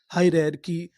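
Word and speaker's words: hierarchy: अगर आपको आखिरी में सी एच वाई लिखा मिले तो हम लोग सी एच वाई को पढ़ते हैं की। क्या पढ़ते हैं? की तो मीनिंग क्या बनी? हाई रे की।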